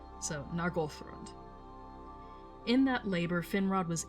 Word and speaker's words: Nargothrond: And you will hear me mispronounce that very frequently as Nargothrond, but it should be Nargothrond. Emphasis on Goth. So, Nargothrond.